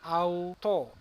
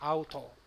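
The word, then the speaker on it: αὐτῷ: kedua huruf yang kedua Tapi huruf yang terakhir ini Omega di bawahnya ada Yota subsript dan dia tidak perlu diucapkan tidak ada bunyinya tapi kita akan baca seperti biasa auto kemudian kata yang ketiga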